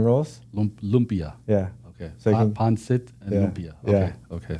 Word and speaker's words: pancit: Okay, pancit. They said that properly too. Say it again. Pancit? Yeah. I said it right?